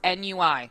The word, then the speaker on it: NUI: And we we triple checked it is NUI is a pronunciation.